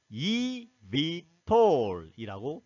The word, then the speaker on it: eVTOL: 테이크업 앤 랜딩의 약자입니다 그래서 이것을 이미톨이라고 발음하면 됩니다 전통적으로 비행기 제작이 쉽지